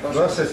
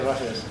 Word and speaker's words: Roses: Roses, lo pronunciamos en español, entonces. Sí, Roses. Vale, Roses, que nos va a explicar qué hace un español en Black Hat 2012.